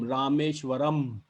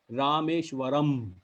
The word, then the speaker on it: Rameshwaram: ending in am um the sound of pronunciation would be am rameshwaram you get the tone rameshwaram so that means those